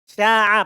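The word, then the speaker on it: شاع: Sya'a pakai ain. Ya, bukan pakai hamzah.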